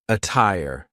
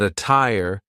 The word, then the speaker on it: attire: The true T sound can also be used when there is a double T, like in the word attire. But be careful, because a lot of double T words will sound like a fast D. But attire is an example of a double T that sounds like a true T.